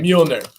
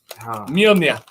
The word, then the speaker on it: Mueller: Mueller. Mueller.